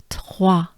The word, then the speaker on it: trois: And the hard part is to pronounce it with the T sound, the T. So, trois. Good breath.